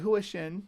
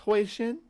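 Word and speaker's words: Hui Shen: I said Huixin, but it's Huixin.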